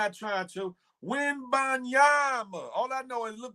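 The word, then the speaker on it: Wembanyama: Wimbanyama. All I know is look the last part of rhyme with Bama. What? Wimbanyama.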